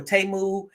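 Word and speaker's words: Temu: did wish I think now we've got Teemu or TAMU and you've got Sheen or she in however you want to pronounce it but wish was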